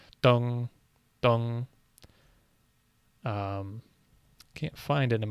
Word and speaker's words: 凍: do with ice, and the pronunciation, dong, is very similar to the character for east.